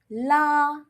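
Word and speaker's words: là: la la first tone it means pull la la fourth tone la it means spicy la it means spicy All right?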